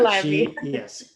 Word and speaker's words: Calliope: And I'm going to say her name wrong. Calliope, yeah, Calliope.